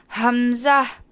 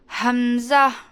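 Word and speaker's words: همزة: ஹம்சா also எங்கேருந்து pronounce ஆகுது? Last portion of the throat தான் அதுவுமே. ஹம்சா, ஹம்சா.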